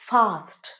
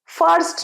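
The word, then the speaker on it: fast: তাহলে যদি বলি তাড়াতাড়ি খাও, ইট ফাস্ট, তাড়াতাড়ি যাও, গো ফাস্ট, এটার উচ্চারণ ফাস্ট ফাস্ট, ফার্স্ট নয়, ফার্স্ট মানে হচ্ছে প্রথম, এটা ফাস্ট ফাস্ট।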